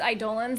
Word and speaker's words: Eidolons: don't have my information it's idolans yeah that's how you say it i know it's weird